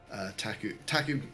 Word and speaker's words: PTAC: So we have had things in the past where Taku, PTAC is how you spell it, but Taku is how you pronounce it. Though better if you're Polish.